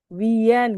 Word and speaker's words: Wien: Wien gitu ya tulisannya ya. Dibacanya wien. Wien win ya.